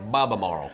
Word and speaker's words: Albemarle: Albemarle.